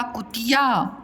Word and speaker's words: कुतिया: का में छोटा की मात्रा कु, ता में छोटी की मात्रा ती और या कुतिया।